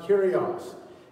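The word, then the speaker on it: Κύριος: It's pronounced Kyrios, meaning Jesus is Lord.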